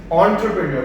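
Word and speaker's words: entrepreneur: सही है, एंटरप्रेन्योर basically, अच्छा लिखा ई से जाता है, एंटरप्रेन्योर नहीं बोलना है इसको। You need to know the right pronunciation. एंटरप्रेन्योर pronounce ओ से होता है, एंटरप्रेन्योर। सही है, ये लेकिन फिर भी ये मुंह टेढ़ा करके जो हमें बोलना पड़ रहा है, ये एक्चुअली एक फ्रेंच वर्ड है।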